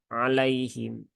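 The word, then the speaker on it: عليهم: sifat Lin itu dia dibaca dengan lembut ya dengan lembut jangan di paksa ya jangan ditekan ya jangan juga disentak sentak ya tapi biasa saja ya membacanya biasa sesuai dengan ee aliran suara kita alaihim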